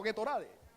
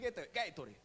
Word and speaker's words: Gatorade: Mal pronunciado, Gatorade. Es Gatorade.